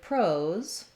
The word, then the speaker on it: pros: First of all, the word pros is the same as this word prose, as in writing, and it has the O diphthong as well as a Z sound.